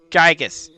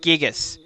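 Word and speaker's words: Giygas: the future all station gigus right gigas the universal Cosmic Destroyer yeah I will pronounce it gigus but uh Marcus LM Bloom the you know the little guy who translated this game translated pronounces it as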